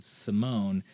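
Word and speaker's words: S1m0ne: a movie in 2002 called Simone but it's also spelled like sim1 it's like S1 m o n e has alucino 2002 and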